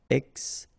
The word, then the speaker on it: extinction: Okay, remember, T-I-O-N, sion. Extinction.